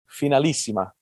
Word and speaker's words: Finalissima: And we have the right guy here to make sure that I do pronounce it correctly. You know, the Finalissima, is that correct? Finalissima.